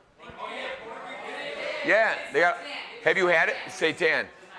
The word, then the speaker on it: seitan: Seitan. You know what seitan rhymes with? Satan.